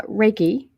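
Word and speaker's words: Reiki: can you explain and and I know I mispronounced the word uh my wife is a raike master and she gets mad at me because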